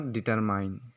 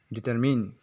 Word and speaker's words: determine: Miss pronounce करते हैं, इसका प्रोनाउंसिएशन रियल प्रोनाउंसिएशन होता है डिटरमिन, इट्स नॉट डिटरमाइन। लोग MINE लास्ट में देख कर इसे डिटरमाइन पढ़ते हैं, ये गलत है। इसे लिखा जा सकता है DETER+MIN, डिटरमिन, जिसका मतलब होता है